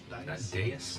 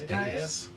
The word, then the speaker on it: dais: Dais? Not dais? I think it's dais. I thought it was a dais. We'll go with dais.